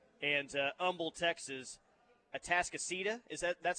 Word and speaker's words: Atascocita: They've got Duncanville at 2, DeSoto at 3, South Lake Carroll at 5, North Shore and Houston at 6, and Humble, Texas, Atascocita.